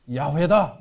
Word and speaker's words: 야훼: 그래서 요거를 그대로 발음을 하면 이야우에 이렇게 된단 말입니다. 이야우에인데 이야우에를 빨리 해보십시오. 그럼 어떻게 됩니까? 이야우에를 빨리 하면 야훼 이렇게 된다라고 하는 거예요.